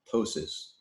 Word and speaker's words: ptosis: have a PO enzyme the P is silent ptosis who's like drooping or